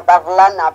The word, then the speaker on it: Dalarna: en el condado de Dalarna, que suena, cuando ellos pronuncian suena como Darlana, pero bueno, es Dalarna.